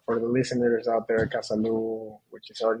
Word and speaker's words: Casalú: beginning but for for the listeners out there kasalo which is our name stands for Casa which